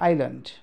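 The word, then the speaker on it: island: के हो त कुरा, फेरि पनि बुझ्नुहोस्, यस दुई लेटर आई र एलको बिचमा आउँछ है, आई र एलको बिचमा यस आउँछ भने त्यति बेला यस साइलेन्ट हुन्छ भन्न खोजेको हो। फर इक्जाम्पल, यहाँ हेर्नुहोस्, अब यहाँ आई र एलको बिचमा के आएको छ, यस। यहाँ आई र एलको बिचमा के आएको छ, यस। यहाँ आई र एलको बिचमा के आएको छ, यस। अब भनेपछि अब यसलाई हामी भन्छौँ आइल्यान्ड है, आइल्यान्ड भनेर भन्छौँ।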